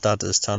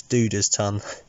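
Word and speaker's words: Dudda's Tun: it's a local cider this is duda's tongue i think you pronounce it not dada's ton it's duda's ton and they're a kent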